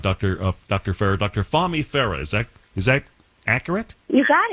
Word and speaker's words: Fahmi Farah: I hope I'm getting the pronunciation close to being right, Dr. Farah. Dr. Fahmi Farah.